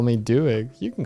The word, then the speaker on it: Doig: somewhere no yeah no some people with my surname they pronounce it no okay no fine